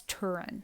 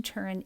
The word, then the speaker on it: Turin: and it's kept now we pronounce it in the US as Turin. So it's kept in Turin, Italy. I think in that region they would say it tin, but we're going to say Turin just because that's what I'm used to saying.